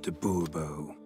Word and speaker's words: de Bobo: Monsieur de Bobo. The emphasis falls on the last syllable.